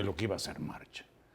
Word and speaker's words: March: que iba a ser marcha y March en pleno rompimiento creo que se pronuncia Mark m a c h H pero creo que se pronuncia Mark en mallorquí eh Bueno pero digámoslo